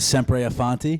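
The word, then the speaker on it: sempre avanti: you there's a saying in Italian it's a simpe aanti which means always forward right never backwards always forwards what is it sepre aanti aanti s aanti a aanti there you go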